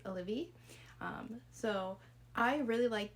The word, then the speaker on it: Olivie: I read One for My Enemy by Olivia Blake, which I always want to pronounce her name, Olivier, but it's Olivia.